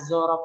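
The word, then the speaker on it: ظرف: Harusnya zorof itu pakai A ya. Cuman takutnya nggak bisa baca ini. Dibacanya zaraf. Jangan dibaca zaraf, tapi zorof.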